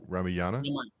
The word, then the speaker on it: Ramayana: Partha says Southeast Asia also worships characters of I'm going to mispronounce that. I'm sorry. Ramayana? Ramayana.